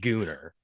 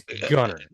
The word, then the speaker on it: Gunner: a new thing yeah you might have heard some British person pronouncing it gonner but it's gunar right I will say I